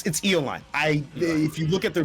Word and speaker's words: Eolyne: Well, Eolyne, it's Eolyne. If you look at their Discord, it has it pronounced there.